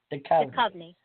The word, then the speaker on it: Duchovny: Duchovny.